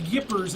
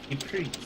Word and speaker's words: Ypres: battle of Yippers. It's actually how you pronounce that, people. It's weird. I thought it was Ypres.